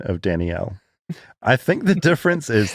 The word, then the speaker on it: Danielle: in the Southern Hemisphere, we pronounce it with 2 syllables, as it is a combination of 2 names, Danny and Al. Whereas in the North, it tends to get combined into 1 syllable, more like Danielle.